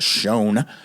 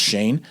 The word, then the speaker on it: Schoen: even though it's pronounced Schoen in regular language, but I think that's in German. It's pronounced Shane.